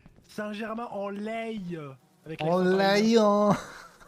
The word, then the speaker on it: Saint-Germain-en-Laye: Ok, j'aurais dû mieux prononcer. Saint-Germain-en-Laye.